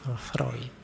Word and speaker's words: Freud: yang terkenal dengan psikoanalisisnya tulisannya Freud bacanya freid Awas keliru cara bacanya tapi ya ndak apa-apaah